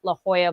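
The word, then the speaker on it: La Jolla: Just look up the Heart La Hoya Playhouse. Um and and that is spelled L A J O L L A.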